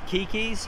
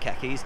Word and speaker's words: Keke's: us now going to kiki's i think it's pronounced kikis not khakis kikis for breakfast hey